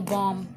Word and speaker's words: balm: अब L silent में भी होते हैं, काफी सारे वर्ड ऐसे होते हैं जिसके अंदर एल जो है साइलेंट होता है। जैसे मान लो बॉम, BALM, बॉम, ठीक है।